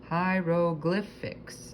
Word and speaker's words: hieroglyphics: They're called hieroglyphics, a word that is pronounced hieroglyphics and doesn't rhyme with anything.